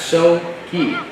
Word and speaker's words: Soki: But we do have an update on the last name of Ben, and it is, in fact, So Key.